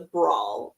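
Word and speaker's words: branle: our cast uh a a dance that's known as a brawl uh it's spelled Bramble for anybody who's like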